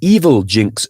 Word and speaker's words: Evilginx: Or that it operates via an evil Jinx style reverse proxy, that is spelled EVILGINX, positioning itself between users and legitimate login pages to capture usernames, passwords, 2FA tokens, and session cookies.